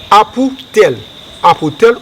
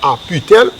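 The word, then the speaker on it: Apitel: On va plonger main, on va dire apoutel ou bien aputel. L'écrit c'est A P I T E L. Apoutel. On va prononcer apoutel.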